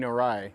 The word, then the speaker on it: Narai: uh placard here and I said it wrong it was King narai that was the one that wanted to uh dig the canal over here not King narrow salon so it would